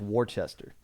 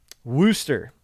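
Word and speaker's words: Worcester: worm wind warchester oh I mispronounced warchester Wooster okay well then why isn't it spelled Wooster we're moving on we're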